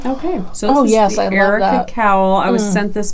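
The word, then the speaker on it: Arika: Erica Cowl. How did you spell it? It's A R I K A. So it's different, don't you think? Like air. Air.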